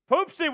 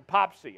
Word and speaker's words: Poopsie: I need you to pronounce the second o in my name poopsie rather than popsy I'm taking this shot